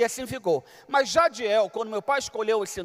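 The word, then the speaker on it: Jadhiel: meu nome de nascimento, Jadiel. E para complicar, tem um H entre o D e o I, J-A-D-H-I-E-L. Então você imagina os estrangeiros querendo pronunciar o meu nome, Jaril, até rádio me chamava, ô senhor rádio.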